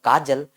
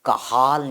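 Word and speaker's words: Cajal: yes it is written in Hindi as the kajal but remember it is the kahal nucleus pronunciation is the kahal you no yes this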